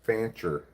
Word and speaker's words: Fancher: I learned about somebody's last name is Fancher. Rhymes with rancher.